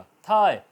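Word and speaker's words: thigh: इस तरह साय, नज़ारा, मंजर, SI बोला जाएगा, GH साइलेंट रहेगा। थाय, ये रान, ठीक है, तो THI थाय बोला जाएगा, GH साइलेंट रहेगा।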